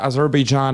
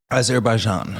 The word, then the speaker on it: Azerbaijan: So what's been happening is the war with Azerban and uh I'm not pronouncing this country right, isn't it? Azerbaian. AR Bjan. Yeah, there you go.